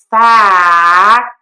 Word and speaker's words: fact: So, I'm going to say fact and then add the t fact fact. It's different than saying the f-f in the other word. So, you can see the mistake is keeping your mouth too closed as opposed to opening your mouth more.